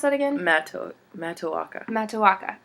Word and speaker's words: Matoaka: But I like, how do I pronounce that again? Matoaka.